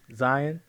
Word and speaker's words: Zion: I'm Zion, like lion. Please don't say it wrong.